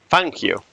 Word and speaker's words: Fangio: I can only say that Fangio is actually pronounced Fangio.